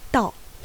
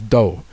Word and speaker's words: 道: I think English speakers probably know the Japanese reading of 道 which is ‘do’, because we know hudo and kendo, aikido.